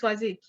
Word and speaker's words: Swazik: And Maxine and Swazik, you're going to have to help me with the pronunciation there. Did I get that right? And Elaine. Yeah, it's Swazik.